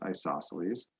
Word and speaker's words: isosceles: of them an isosceles triangle this word is pronounced isosceles has at least two congruent sides an isosceles